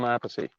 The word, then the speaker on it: Appice: you said it correctly for Vinny, but if it was Carmine, it would be Appice. Yeah, he's Appice. I'm Appice.